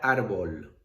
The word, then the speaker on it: árbol: ¿Dónde llevaría la tilde? En la vocal de la sílaba penúltima, ¿vale? Árbol, en la A, tilde.